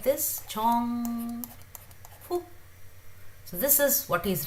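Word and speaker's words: 정국: When he writes it like this, Jongkook. So this is what he's writing, Jongkook, Kook, Jongkook, Kook. So it's neither K nor K nor G, it's somewhere in between.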